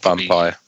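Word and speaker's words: Vampyr: Is it just Vampire? Was it Vampire? It's Vampire. Yeah.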